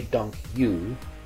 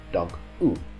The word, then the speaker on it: dank u: Don't say dank you, that sounds a little bit strange. It should be pronounced dank u.